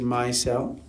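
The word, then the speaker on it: micelles: that it is here it says my cell and it's m-i-c-e-l-l-e-s I'm just in my cell not yes so myself notice it's spelled differently and notice it's not a simple c-e-l-l yeah well what about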